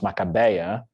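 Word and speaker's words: Macabéa: Makiba which in Portuguese is pronounced Macabeia, is like, she is it.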